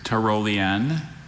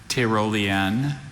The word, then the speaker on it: Tyrolean: There's 3. There's Tyrolean, Tyrolean, and Tyrolean.